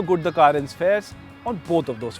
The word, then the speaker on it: Carens: fourth product is this the kia currents and yes that is how it is pronounced now what he is